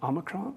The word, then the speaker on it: Omicron: think I said it wrong last week, but Omicron, you think, who cares?